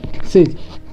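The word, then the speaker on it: sage: Next sentence है सिज, एस ए जी ई, एस से बन गया सा, जी से बन गया जा। अब हम पढ़े इसके बाद एक अल्फ़ाबेट को छोड़ के अगर ई है तो इसका उच्चारण ए पढ़ेंगे, तो क्या हो जाएगा, सेज हो जाएगा।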